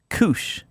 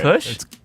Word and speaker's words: Koosh: Koosh. No, you gotta fucking pronounce the word right if you're gonna do it. Kush?